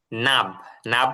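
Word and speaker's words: knob: name plate নামের ফলক, নাব মানে দরজার গোল হাতল, নাবের এখানে কে উচ্চারণ হবে না, নাব দরজার গোল হাতল,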